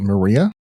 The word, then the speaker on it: Maria Island: Maria Island, Maria? Maria or Ma Maria I think it's Maria, actually. M A R I A. That's definitely Maria.